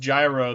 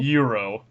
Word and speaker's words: Gyro: at least at least I pronounced gyro the right way instead of thinking it was the correct way euro is that really the right way yeah they call him gyro not Euro Euro I guess is specifically